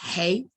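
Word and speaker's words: ה: So the hey, or the ha, pronounced hey, is man, male and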